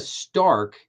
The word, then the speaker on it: STARC: So on Thursday, I did an episode on a very specific framework called Can the Stark, and that's spelled STARC, the Stark.